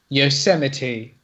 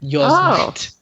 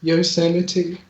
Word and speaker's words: Yosemite: okay I've remembered mine it was it was Yosemite and I pronounced it yourself okay that's understandable why oh I see yours